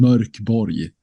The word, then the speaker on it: Mörk Borg: It's you can pronounce it in a lot of different ways. Right. So we've learned the last couple of years. But in Swedish, I think it's intended to sound Mörk Borg.